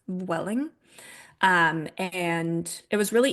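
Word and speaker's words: Vueling: Welling v u l i n g it's pronounced Welling um and it was really easy to get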